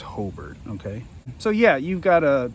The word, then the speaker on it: Hobart: If you're not from around here, I know it's spelled Hobart, but it's pronounced Hobart, okay?